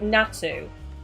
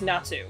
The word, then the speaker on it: Natu: I've been told you pronounce it Natu. Right? I don't know if that's how you pronounce this Pokemon's name, but I've been told it's pronounced Natu.